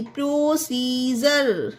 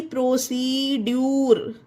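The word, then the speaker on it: procedure: पी आर ओ सी ई डी यू आर ई, प्रोसीजर, ना कि प्रोसीड्यूर।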